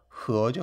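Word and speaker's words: 合: 합친다 할 때 합자하고 발음이 똑같아요. 흐어죠. 흐어.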